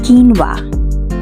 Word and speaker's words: quinoa: whoops you forget well no more mystery it's quinoa and today we are not just saying it